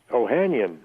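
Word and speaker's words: Ohanian: not my real name my real name is uh ohanyan and they say well that's a good Irish name and I say no it's spelled o h a n i a n which uh is an Armenian name and my first name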